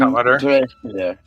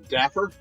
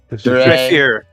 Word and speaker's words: Dreyfir: I am Dreyfir. Good to meet you, Dreyfir. Dapper? Dreyfir. It's Elven. I know it's hard. Dreyfir? The first F is silent. Dreyfir. Fear. All right.